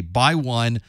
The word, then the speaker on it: x1: Normally, we would pronounce this with the X being a by. So this is a by 1, by 2, by 8, or by 32, for example.